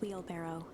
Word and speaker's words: wheelbarrow: A sturdy old wheelbarrow. How'd you say that? Wheelbarrow. Barrel. I always thought it was... Wait, is that how it's said? I always thought it was wheelbarrow. Like a barrel.